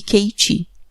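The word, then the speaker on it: Katé: Ela é parecida com a que me foi passada por minha tia Caté. Pronuncia-se Kiti, que vivia em Cisbrac, perto de Dombovar, na Hungria.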